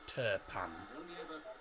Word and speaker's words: Turpin: Turkish pans now Clement terpan t-u-r-p-i-n that's the that's how you spell his name but because he's from France the I the letter i is pronounced of an e so it's turpan and I won't say